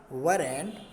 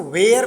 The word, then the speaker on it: were: देखो WERE, इसको वर पढ़ना चाहिए, इसको वेयर पढ़ देते हैं, वेयर नहीं पढ़ना चाहिए, क्योंकि वेयर का जो स्पेलिंग होता है WHERE, वेयर। ये देखो, इसको वेयर पढ़ते हैं, और WERE को क्या पढ़ा जाता है?